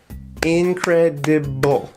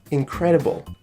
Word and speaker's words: incredible: of sound okay incredible incredible okay so can you hear which syllable is the loudest incredible incredible you're right this second syllable is the loudest it means that has the stress incredible incredible I hope